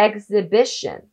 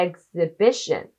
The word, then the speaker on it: exhibition: で x ブッシュになります一緒に発音してみましょうエッグズぶっしょんはいああああああエッグズ別所んはい jリーグ展示会編段階は名詞